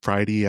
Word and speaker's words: Fridie: We're @ Friday Outdoors. And then our website is Friday Outdoors. It's spelled F R I D I E Outdoors.